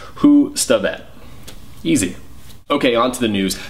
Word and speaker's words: Hustvedt: really start this week some clarity on the pronunciation of my last name cuz some people are still confused by it so it breaks down like this three syllables who stet easy okay on to the